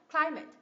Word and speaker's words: climate: know Ok tiếp này khí hậu nhấm tiết thứ nhất climate hai tiết đúng không cl climate climate climate climate đây áp dụng luôn squ sa với Đây đúng không Thì nhấ V tiết thứ nhất và âm thứ hai chính là squ sa climate climate tiếp ngữ pháp đúng